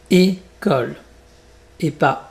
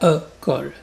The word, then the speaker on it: école: Tu peux prononcer café comme K. K-fait. Et donc c'est fermé. École. Et pas E-colle.